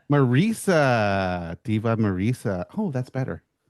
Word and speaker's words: Marisa: rock and roll, the mayor of Thunderdome, Diva Marisa. Welcome. Oh, that's not how you say my name. Oh, how would you like to say your name? Marisa. Marisa, Diva Marisa.